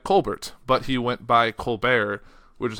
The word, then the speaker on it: Colbert: but he went by Colbert, which is how it's pronounced, but no one looking at that will think that, and the T is silent, all that, and my